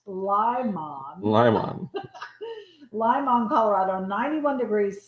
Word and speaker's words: Limon: He actually, because I said Limon, he put in parentheses before I got to read it, pronounced Limon.